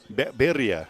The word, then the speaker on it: birria: That's the word I can't pronounce that Michelle can say. How do you say it? Birria.